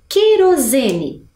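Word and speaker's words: querosene: vamos ler ao lado a palavra é que ro Z ne querozene eu na hora que eu fiz a pronúncia eu escutei a presença da vogal u ou não não não é mesmo então é um dígrafo porque afinal duas letrinhas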